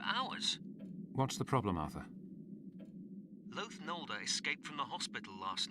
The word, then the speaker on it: Loath Nolder: Loath Nolder, that's how you say his name.